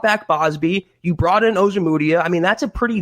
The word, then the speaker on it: Ojemudia: I wasn't the biggest fan of Amuji. I can't ever pronounce his name, Chad. Michael, say it one more time. Ojemudia.